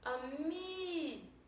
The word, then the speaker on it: amigo: Amigo. Vocês perceberam que eu passei mais tempo pronunciando o mi. Então o mi é a minha sílaba tônica.